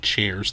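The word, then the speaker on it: Cheairs: by nathan shares its c-h-e-a-i-r-s i think it's pronounced like chairs the fourth who was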